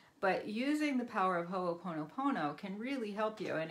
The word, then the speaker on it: hoʻoponopono: using the power of ho oponopono can really help you and it's spelled just like it sounds ho Oh pono pono with some spaces in it and you can get